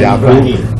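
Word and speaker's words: يعقوب: We pronounce it Yaqub.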